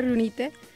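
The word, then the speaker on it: Riunite: Y propiamente se pronuncia Rionite.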